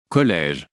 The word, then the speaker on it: collège: We put a grave accent for the E, preceding a syllable containing a silent. E. College. Collège.